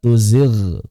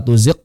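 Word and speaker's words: تزغ: Demikian pula la tuzig quluba. La tuzig qulub. Kalau ini ada dalam ayat la tuzig qulub. Jangan sampai dibaca la tuziq qulub.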